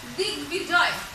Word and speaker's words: দিগ্বিজয়: দেখো এখানে কিন্তু সন্ধিজাত শব্দে ব যুক্ত হলে বয়ের উচ্চারণটা বজায় থাকে, অর্থাৎ বয়ের উচ্চারণটা হয়।